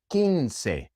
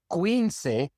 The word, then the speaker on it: quince: Quince, 15. Quince. Quince doesn't exist. It is quince.